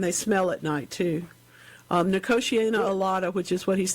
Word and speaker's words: Nicotiana: Number one, is it pronounced Nicotiana? I don't think I've ever heard it pronounced. Yeah, it's Nicotiana, yeah.